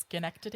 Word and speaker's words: Schenectady: But I also believe it's pronounced Schenectady.